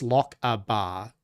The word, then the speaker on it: Lockabar: Think of it as lock a bar. But that's how I say how do you say it's just like lock like these phonetically? It's L O C K. That's better than L O C H. Just L O C A B A R. Lockabar.